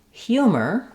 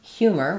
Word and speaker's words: humor: Similarly in humor humor we have the same hu combination stressed in the beginning and then my letters o r just say the e r sound my or uh because they're unstressed.